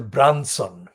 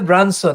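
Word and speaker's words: Brunson: And that man was called Michael Branson, not like Richard Branson, it's spelled B-R-U-N-S for sugar, O-N. So Michael Branson actually reported in his then capacity as the political editor of ITB, ITN News.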